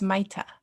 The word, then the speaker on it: Maita: It's Maita.